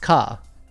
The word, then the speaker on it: ヶ: And it looks like a ke, but it's pronounced ka.